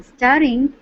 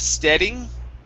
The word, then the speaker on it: staring: go to the word staring instead of steading okay push your tongue down stare staring staring there you